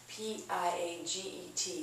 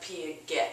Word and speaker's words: Piaget: seen his name as your book jean-paul piaget p-i-a-g-e-t you probably didn't know how to pronounce it okay it looks like p a get or something it's pronounced piaget he talks about